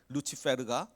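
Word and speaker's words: Lucifer: 이사야서 14장 12절에 보면 루시퍼, 그 라틴어 발음으로 루치페르가 나옵니다.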